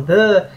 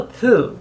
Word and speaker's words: Thû: Existe uma diferença aí, alguns falam Thû, outros falam Thã, e eu não consegui num acordo aí. Eu falo Thû, porque é T-H-U com circunflexo.